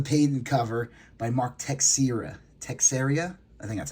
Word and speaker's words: Texeira: Texeira?